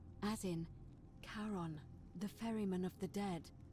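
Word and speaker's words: Charon: it's just as you described it only your pronunciation is a little off the name you heard wasn't Karen it was c h a r o n as in Caron the ferryman of the Dead helps The Souls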